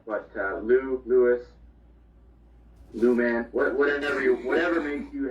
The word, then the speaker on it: Louis: my dad's french canadian so uh the proper pronunciation is louis yes is silent but lou lewis man whatever whatever makes you happy makes me